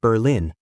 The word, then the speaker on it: Berlin: In Berlin, pronounced Berlin, French songs rock the streets and towns like Colbrook host Quebec style winter carnivals.